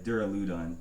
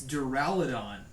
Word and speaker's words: Duraludon: It's Duraludon. Okay, but Duraludon isn't wrong because Dura is the Latin word for hard, and that's how you pronounce it, Dura.